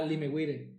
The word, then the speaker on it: Limewire: Limeware también. ¿El cuál? Limeware. Ah, Limewire. Sí, se escribe Lime.